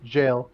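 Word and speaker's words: gaol: jail here it's pronounced jail it's spelled yeah they say jail but it's G it's go it's like it's goal but it's jail well it's go of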